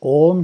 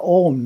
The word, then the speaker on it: Om: The first syllable is A, pronounced as the English word ah, but prolonged, ah. The second syllable is U, as in roof, but pronounced oo, but prolonged, oo.